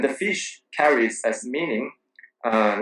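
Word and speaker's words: 鱼: dishes and and the fish carries as meaning uh like uh every year every old year every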